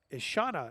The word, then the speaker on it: Ishana: Ishana is the pronunciation of the first name there.